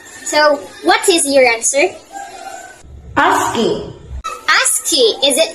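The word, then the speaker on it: ASCII: an example of asking a-s-c-i-i pronounced as asking is an American Standard code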